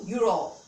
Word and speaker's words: euro: u sound u u euro over here we are writing e but we are pronouncing it as you you you raw that